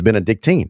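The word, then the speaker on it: Benedictine: So, it's amazing how everybody that coaches there and goes to school up there miss mispronounces their own name. It's been a dictine. They should know this.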